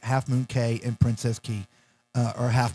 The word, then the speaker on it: Half Moon Cay: Relax Away at Half Moon Cay. Yes, so it rhymes. Relax away.